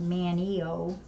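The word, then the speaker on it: Manteo: It's pronounced Manio, no T.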